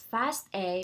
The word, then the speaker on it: FASTA: let's talk about the fast a format and how to create fast a file so what is a fast a format it actually is pronounced as fast a because it stands for fast all which refers to the